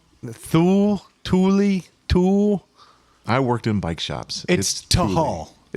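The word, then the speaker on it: Thule: It's tuli. T h u l e. Tuli. The tul. Th tuli. Tul. I worked in bike shops.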